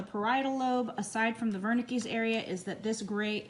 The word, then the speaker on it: Wernicke: is known as the wernickes this is a german word so although it starts with a w it's pronounced with a v sound okay um the pre-central